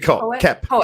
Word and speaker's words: Koepp: Now, David, I feel like I'm mispronouncing his name. Koepp? David Koepp.